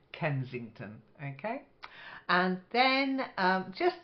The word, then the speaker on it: Kensington: you I was listening the first word Kensington with a s in the middle uh it's a very famous part of London Kensington okay and then um